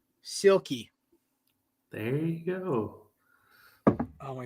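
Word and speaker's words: Silkie: it's really simple no say the first four letters together in one word silky there you go oh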